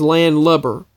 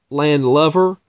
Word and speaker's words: landlubber: land lover or landlubber because apparently the correct pronunciation is landlubber with BB er not LOV er it's lubber